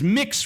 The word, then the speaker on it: Mx: the am I supposed to pronounce that mix it's mix respect for others yeah